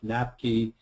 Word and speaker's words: NAPQI: written the abbreviation for, the acronym, and I pronounce it NAPQI. So this is the structure of NAPQI, and NAPQI is one of the most toxic substances in the body.